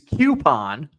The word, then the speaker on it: coupon: Coupon. Just like the ooh is pronounced the word soup.